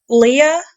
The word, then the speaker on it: Leia: Then you have Leah, it's spelled Leia, Leah.